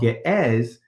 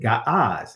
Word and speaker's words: Ge'ez: Right now, it's called Ge'ez, but I pronounce it Ga'az.